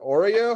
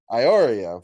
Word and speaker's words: Iorio: And Vincent, is it Oreo? How do you pronounce that, Gil? Iorio.